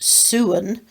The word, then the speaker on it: sowens: the word sowon's actually pronounced soon comes from the gaelic